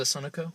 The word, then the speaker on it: Sunoco: It was a Sunoco.